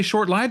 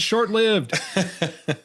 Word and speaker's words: shortlived: And she's like, well, I heard, she goes, I heard someone say short live the other day, and I thought I've been saying it wrong my whole life. I'm like, no, we're right. Stick to your guns. It's shortlived.